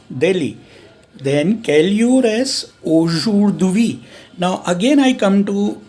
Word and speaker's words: aujourd'hui: So you'll say aujourd'hui. There is no need to pronounce D, because that again creates